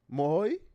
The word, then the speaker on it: Moai: How do you say your last name? Moai Moy.